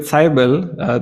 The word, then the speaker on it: Seibel: Seibel, that is the correct pronunciation, I believe.